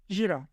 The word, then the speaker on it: Jira: veriyorum programımızın adı cira harf olarak söyleyecek olursam kodlayan Jandarma İstanbul Rize Adana düzeltiyorum harf olarak kodlayaz olursam da Jandarma İstanbul Rize Artvin jira diye yazılıyor jira diye okunuyor E bu programı açtığınız